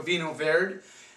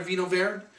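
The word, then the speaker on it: Vinho Verde: Have you tried a Vino Verde? A lot of people say Vino Verde. I don't care how you say it. It's Vino Verde.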